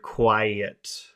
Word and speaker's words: quiet: Because look, we have three vowel sounds in this first syllable. It's oo-I, oo-I, oo-I. So it's three sounds, but it's only one syllable.